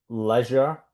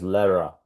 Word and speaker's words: leisure: Instead of leisure, or in American leisure, he says lera.